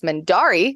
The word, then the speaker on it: Mendarii: I am known across the internet normally as Mendari, which is spelled Mendarii.